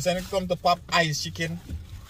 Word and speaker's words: Popeyes: Popeyes, not papaya.